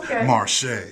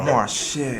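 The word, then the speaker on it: Marche': Marshay. Okay. You got to say her name like that now. You know, Marshay. Miss Marshay.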